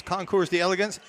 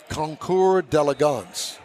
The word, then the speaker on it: Concours d'Elegance: Anyway, this is at the Lakewood Yacht Club, and it's the annual car and boat show, Keels and Wheels Concours d'Elegance.